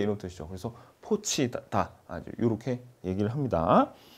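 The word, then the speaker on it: 破七: 라는 의미를 가지고 있는데요 것을 우리가 중식 바람으로 포치 라고 하는데요 그래서 포치 는 중국의 경제와 금융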